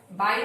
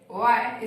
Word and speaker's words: why: वाई, बाय नहीं वाई, ठीक है। वाई, इसका करेक्ट प्रोनाउंसिएशन वाई है, वाई।